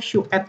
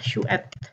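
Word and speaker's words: tjugoett: Tapi di sehari-hari kita bilangnya 20et ya. Jadi kayak gini, 20N atau shuet gitu ya, shuet. Jadi si go-nya ini di skip juga.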